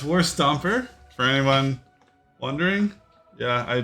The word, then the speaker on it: Warstomper: my God oh my God nice thank you spell it's okay no big deal no deal okay so yeah it's War stomper for anyone wondering yeah I didn't just paint